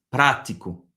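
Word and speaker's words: prático: Encore une fois, là où il y a l'accent, c'est là où tu vas vraiment prononcer plus fort. C'est là qu'il y a l'accent tonique. Donc practico.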